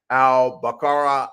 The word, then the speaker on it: al-Baqarah: The actual how you would actually pronounce it is the Surah 2 al-Baqarah ayat 219.